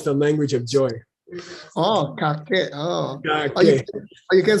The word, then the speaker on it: Kakek: Kakek. Say again. Kakek. Kakek. Kakek. Okay. K-A-K-E-K. Kakek. Kakek. Kakek. Okay, I got a new one. Kakek. Kakek. Kakek. In Tibetan, it means the language of joy. Oh, kakek.